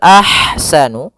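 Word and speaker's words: أَحْسَنُ: Kemudian padafal ahsanu di sini ada ha yang berharakat sukun maka dinamakan dengan ha hams. Ah alirkan nafasnya ah. Ah kemudian baru dibaca dengan sanya.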